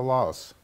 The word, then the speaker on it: Laos: Okay, and actually, Laos is pronounced Lao by the Lao people.